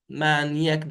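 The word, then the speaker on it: یک: Bir de yek kelimesi konuşma dilinde bu k'yi e'ye dönüşebiliyor. Ye. Yek, ye. Mesela ben yek danışçu هستم.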